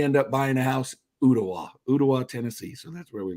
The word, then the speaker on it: Ooltewah: And I said, "Ooltewah." The L is silent. It's Ooltewah.